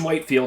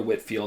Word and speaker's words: Whitefield: but yeah but yeah george whitefield or whitfield i've heard both pronunciations was the next guy